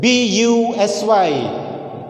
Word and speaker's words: busy: pronounced as But whereas, when we take the word busy, busy, here we can see the difference of its pronunciation. How the U is pronounced here? The U is pronounced as E, and quite different to this.